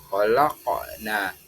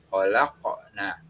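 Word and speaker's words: خلقنا: tulisannya kita membaca nah namun ketika kita membacanya menggunakan hukum tajwid memantul yakni hukum Qalqalah maka membacanya khalaqna khalaqna selanjutnya alinan al-insan kita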